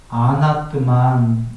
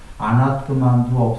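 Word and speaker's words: अनात्मन्: 발음이 한글처럼 아니다 할 때 안으로 읽어요. 그러니까 아뜨만, 아나뜨만 이렇게 하면 아나뜨만을 흔히 무아로 해석하는 건데, 한글로뿐이 아니라 지구에서 세계적으로 아나뜨만을 무아라고 해석해요.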